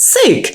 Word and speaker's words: Sook: And I thought, well, if I call myself Sook, I can say it rhymes with puke.